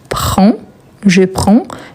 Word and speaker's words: prends: Donc, je prends. Et attention, on ne prononce pas, mais il faut ajouter DS à la fin.